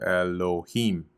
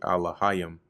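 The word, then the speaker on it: אלהים: So even here, even though they have the pronunciation off, you see they have Elohim, which is really Alahayim.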